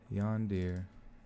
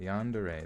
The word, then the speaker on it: yandere: in chat at all times wait it's pronounced yandere Oh first off let me see how you say this one Lancashire Lancashire Lancashire all right so we're looking in the dictionary yawn dear yandere yandere that would make more sense so I think